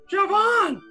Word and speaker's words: Siobhan: Think of shove and on. Siobhan!